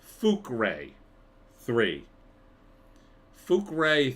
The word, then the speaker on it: Fukrey: but wackiness ensues uh it's spelled f-u-k-r-e-y but it's pretty it is pronounced fukrey what did poor Ray